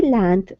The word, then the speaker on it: landed: Ricky landed on Nagaina's back and beat her, but she struggled free. Very good. So Ricky landed. You see that D-E-D? That's when you pronounce the second syllable.